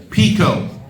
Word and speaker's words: Picot: Sykes, Picot. Picot spelled like peacock. P-I-C-O-T.